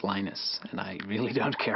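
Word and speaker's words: Linus: before and that's when lenus t came along lenus or lonus what's the exact your preferred pronunciation um when I speak Swedish it's lenus when I speak Finnish it's lenus when I speak English it's lonus and I really don't care how people pronounce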